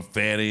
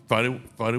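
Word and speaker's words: Fani: Fanny and Fonnie, and her name is Fonnie Willis. Funny. It's spelled different than Fanny. Well, say it again so America can hear It's it. Fonnie Willis. Funny. Fonnie. Fonnie, Willis. F-A-N-I.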